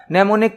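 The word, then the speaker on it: mnemonic: उपयोग किया जाता है ने यहां पर एम साइलेंट रहेगा ने कोड का यूज किया जाता निमोनिक मतलब कुछ शॉर्टकट यहां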